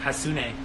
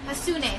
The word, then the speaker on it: Hassoune: Hassoune. Hassoune. So Jade Hassoune. It's kind of how you spell it, right? Yeah, exactly.